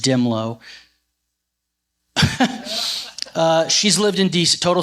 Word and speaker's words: Dehmlow: So somebody from your state, and her surname is spelled Dehmlow. She's in our report. Just search Dimlow.